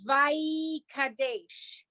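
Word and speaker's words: וַיְקַדֵּשׁ: Vaikadesh. Okay. Oh, yud. Vaikadesh. Right? If I'm doing it by syllables, vai is 1 syllable, kadesh.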